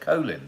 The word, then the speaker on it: Colin: but why that's interesting because i'd always say colin but he said colin didn't he in honor so why did he change the pronunciation of his name one in honor of